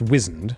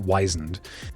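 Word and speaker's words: wizened: i found out embarrassingly recently that whizzened it's pronounced wizard for one thing it's not wisened and it doesn't mean why isn't like it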